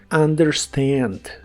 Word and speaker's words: understand: significa entender o comprender la un del inicio de las palabras en inglés se suele pronunciar como an understand understand y usaremos el verbo